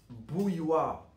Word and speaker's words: bouilloire: Donc pour la prononciation c'est bou bou plus u. Donc bouille plus. W comme dans le mot pois.